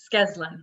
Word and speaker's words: Skeslin: We need to invite, is it Skeslin? Yes, Skeslin, 2 syllables, Skeslin.